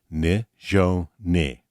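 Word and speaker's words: Nizhoni: Meet Nishoni Begay. Her first name is pronounced Ne-jo-ne and means beauty.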